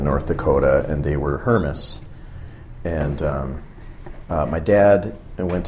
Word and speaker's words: Hermes: know the opportunity well the true story is that my last name is pronounced thermos mm-hmm it's German and so my great grandparents immigrated to the u.s.